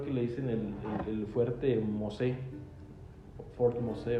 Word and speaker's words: Mosé: No, pero es Mosé, sin la última sí. Bueno, en español ese era el fuerte de Santa Teresa de Mosé, con acento en la E, Mosé.